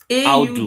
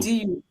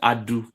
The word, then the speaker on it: Audu: Yes, Audu. AUDU. Okay. I'll do. So yes, I call it Adu. So it's Audu. So the U has to be pronounced.